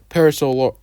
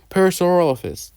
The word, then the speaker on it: Parasaurolophus: or Pokemon, it's literal dinosaurs like Triceratops, Carnotaurus, Parasaur, Paras. I can't pronounce it right for the life of me, but you know what I'm talking about. A T-Rex, Velociraptor, Spinosaurus, Brachiosaurus, Parasaurolophus.